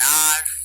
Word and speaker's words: hour: An apple, an eagle, an ink pot, an orange, an umbrella, an R. N R, yes. ये spelling क्या है पढ़ो तो इसकी?